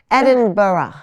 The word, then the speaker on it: Edinburgh: edin burrow so whatever you do don't say either of those at inbra or once you get there you get comfortable and you hear the Scottish people saying it there really is a half syllable at the end it's sort of like the G is a vowel Edinburough right so you